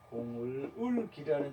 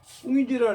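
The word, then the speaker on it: 孔乙己: 공을기라는 작품이 있는데 꿍이지라 그래요. 꿍이지.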